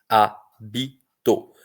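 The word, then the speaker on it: hábito: Porque o H é mudo. O H é mudo em início de palavra. Então, H + A dá A. H + E dá E, H + I dá I, H + O dá O.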